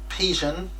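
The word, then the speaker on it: Psion: It was the Pigeon. Hope I'm pronouncing that right. It's P-S-I-O-N.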